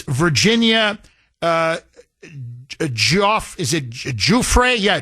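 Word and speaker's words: Giuffre: apparently in an interview, she gives the French pronunciation of her name. So, out of respect for her and her family, um, it's Virginia, uh, is it Juay? Yeah, Juay. Juay.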